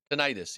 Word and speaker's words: tinnitus: Uh, yeah, how do you say Tinnitus. it? Tinnitus?